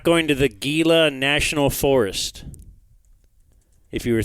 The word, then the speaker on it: Gila: we'd meet you there I wonder if they say Gila or hila because it's a hila monster right I think that's how you say it but I've never